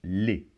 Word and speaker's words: les: introduit des mots et il se prononce les donc ici le E et le S se combine pour former le son et on ne prononce pas la lettre S finale pourtant si je lis le